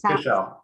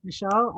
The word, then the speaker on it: Fishel: Yeah, So actually it's official, but Fishel. Oh, yeah, everyone pronounces it differently. But yeah, yeah, Fishel.